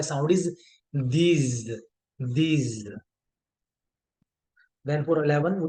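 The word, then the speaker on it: douze: फॉर 12 we have Dooj Dooj तो इसमें एक नई साउंड प्रोड्यूस हम हम ऐड कर रहे हैं वच इज ओ यू साउंड जब भी आपका ओ प्लस यू आ जाएगा तो साउंड आपकी बनेगी ऊ साउंड राइट तो फ्रेंच में साउंड्स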